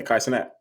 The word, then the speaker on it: Kai Cenat: Yeah, Kai Cenat.